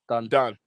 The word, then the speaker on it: Dunn: Is it or? Is it Dunn or? Dunn. Yeah.